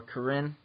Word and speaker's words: Karin: And if you want more information about Hammer Nutrition products, feel free to message me or Karin.